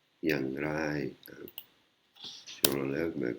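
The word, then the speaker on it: อย่างไร: อ ย ่ า ง ไ ร Yang Rai, hein. si on l'enlève, mais comme c'est un mot qui n'existe pas, le prononce mal.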